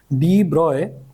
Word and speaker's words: de Broglie: तो Louis विटर डी ब्रॉय pronounced as de Broglie put forward the bold hypothesis that material particles in motion should display wave-like properties.